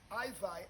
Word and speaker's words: IVi: IVi as in Levi. You know, Levi, the ancient priest. So I-V-I. I-V-I. And if you put an E, you might get the pronunciation clearer, because someone would say Ivy if they say I-V-I. So I-E-V-I. No, it's I-V-I, and you can put an E in the bracket, so the person will know it's I-Vi, not I-V.